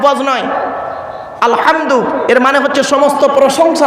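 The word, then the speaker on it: الحمد: বলি আলহামদুলিল্লাহি রাব্বিল আলামিন আলহামদু গলার ভেতর থেকে এটা উচ্চারণ করবে নয় আলহামদু এর মানে হচ্ছে সমস্ত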